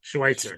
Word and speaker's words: Schweitzer: Yeah, if anyone goes down there with a ton of offensive line depth, Mitchell and is it Schweitzer? Schneitzer? How do you say it? Schweitzer.